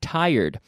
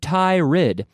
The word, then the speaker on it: tired: students mispronounced the word tired I hear Thai rid because of the spelling but we say tired tired just like a tire like whom ethical tire